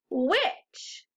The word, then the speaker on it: which: our other tricky words the h doesn't make a sound that's the tricky part you hear the rest of the word but the h is silent what's this tricky word which repeat after me which